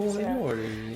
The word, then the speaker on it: Foradori: Say it like an Italian. Foradori.